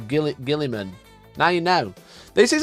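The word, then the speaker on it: Roboute Guilliman: Guilly man is actually pronounced Route Gilman. So, it's not even man, it's men. Says it right here. Look at that. Can you see rut gill gillan? Gil. It's not Gillyman. It's Gill Gillimman.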